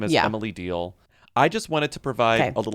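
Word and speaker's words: Deahl: Darius Rucker is engaged to a woman whose, I'm assuming her last name is pronounced Deal. It's D-E-A-H. It's Deal with an H before the L.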